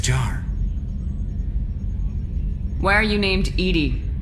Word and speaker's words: EDI: airlock is a jar why are you named edie edie is the phonetic pronunciation of e d that is an acronym